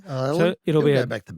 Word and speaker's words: Ioelu: It was uh Ioelu. Ioelu.